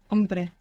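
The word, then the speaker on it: hombre: a there for example the word for man was begins with a silent h ombre ombre the man El om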